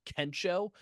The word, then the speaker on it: Kensho: Because Fleric presented the match of the year last year, and he had difficulties at the time of pronouncing Kensho, and he pronounced it as Oh, Kesha.